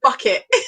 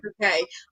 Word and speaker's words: Bucket: It's spelled bucket. So everyone would be like, Mrs. Bucket, and she'd be like, bouquet.